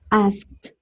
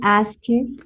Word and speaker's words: asked: Concerned, planned, asked. Yes, we don't say ask it, we don't say plan it, concern it, happen it, no.